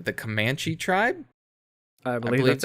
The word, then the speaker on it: Comanche: And it's set with this, I want to pronounce this correctly, the Comanche tribe? I believe that's how it's pronounced. Yes, Comanche.